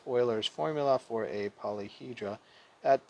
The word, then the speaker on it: Euler's: How do we pronounce Euler's formula? The answer is Euler's formula. So, you know, the typical mislead is it looks a lot like Euler's formula, right?